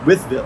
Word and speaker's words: Wytheville: Well, so first of all, we're in Wytheville, Virginia. Withville. That's right.